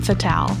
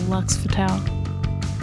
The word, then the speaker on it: Fatale: Well, when I made the name, it was off of Femme Fatale. So Fatale, Femme Fatale. So Lux Fatale.